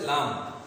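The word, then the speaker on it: لام: তো প্রিয় শিক্ষার্থীরা, 8 নং যে মাখরাজ তার হরফ হচ্ছে লাম। 8 নম্বর মাখরাজ কি? লাম। জিহ্বার অগ্রভাগের কিনারা সামনের উপরের দাঁতের সাথে লাগিয়ে উচ্চারিত হয় লাম।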